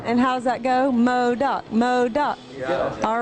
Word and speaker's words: MODOC: people like it, and it's easy to chant. 2 syllables. Yeah, and how's that go? MODOC, MODOC.